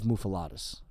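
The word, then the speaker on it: muffuletta: I like a Montreal bagel better because I don't love muffalettas. Oh, really? Way to mispronounce it.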